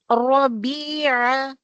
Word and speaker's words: ربيع: اللهم اجعل القرآن اللهم اجعل القرآن ربيع قلبي ربيع قلبي Rabi'a, Ain, and Ra is heavy. Ain is not the heavy letter, but you have to pronounce this Ain letter with the middle of the throat.